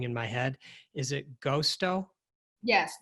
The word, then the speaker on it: Gosto: Is it Gosto? Yes, Gosto. G-O-S-T-O. Okay. And I love the symbolism that you use in the word. And can you talk a little bit about that brand? I think for Gosto and also for Bittis woman brand that we